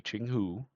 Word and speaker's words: Jianghu: I looked up a pronunciation guide. Uh, so it's supposed to be Chingghu.